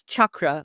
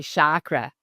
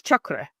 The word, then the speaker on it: chakra: So, and the way it's supposed to be pronounced is chakra, like a hard ch like the word church. A lot of people say chakra, but it's chakra.